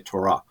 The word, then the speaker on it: Torah: I think we usually do say Torah. In the Hebrew, the accent tends to be on the second syllable, so they would say Torah.